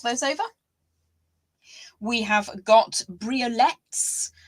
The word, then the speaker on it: briolette: over we have got briolettes sometimes pronounced by some Focus briolet I pronounce them as briolette they are absolutely magnificent